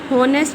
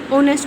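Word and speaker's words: honest: इसको हम हॉनेस्ट नहीं ऑनेस्ट पढ़ते हैं. एच यहाँ पे साइलेंट है.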